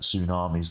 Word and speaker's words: tsunami: pronounce the T and I've always known tsunami to have not have not have the T pronounced it's like a silent T they would convince me